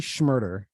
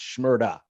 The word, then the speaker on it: Shmurda: like you don't pronounce the er with his name it's shmurda you know it's like [